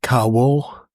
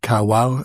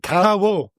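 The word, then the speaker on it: Kawau: Uh I was in Caro. Um not carow as people call it here.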